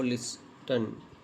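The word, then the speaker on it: listen: ई डी है ना ओ लिसन लिसन आई इसमें टी साइलेंट है।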